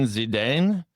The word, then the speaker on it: Zidane: French player, how do you pronounce his name? Zedin Zidane.